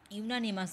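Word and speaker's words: unanimous: ঠিক আছে তো এখানে ইউনানিমাস আছে ইউ এর প্রোনাউন্সিয়েশন ইউ এর মতই হচ্ছে তাহলে এখানে কিন্তু কি হবে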